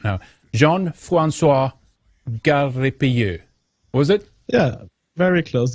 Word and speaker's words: Gariépy: line, JF, and let's see if I can pronounce his name now. Jean-Francois Gariépy. Was it? Yeah, very close. Gariépy. Gariépy.